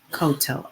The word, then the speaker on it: Cotto: is by latisha cotto i hope i am pronouncing her name right c-o-t-t-o koto i believe it is um and it says